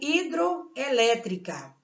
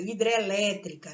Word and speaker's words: hidrelétrica: Quando há perca de elementos, enquanto a pronúncia exige que eu tire algum elemento para não sobrecarregar. Olha, é o caso do hidroelétrica.